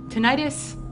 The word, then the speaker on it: tinnitus: Tinnitus, or tinnitus, no matter how you say it, it's an invisible injury commonly referred to as ringing in the ears.